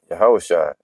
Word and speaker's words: Yahusha: Amashayak, Yahusha. You know, that's how you say it in the Hebrew.